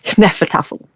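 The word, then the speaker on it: Hnefatafl: and this was called Nefaffle. Okay. So, it just basically sounds like someone is sneezing all over the place when you say it right.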